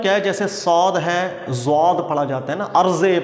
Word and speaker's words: ضاد: یاد رکھیے گا کہ نہ تو یہ دال کے مشابہ تلفظ اس کا ہے، نہ زال، بلکہ ان دونوں کے درمیان ہے۔ یہ بین ایک تلفظ ہوتا ہے، دال اور زال کے بین۔ اس لیے آپ دیکھیں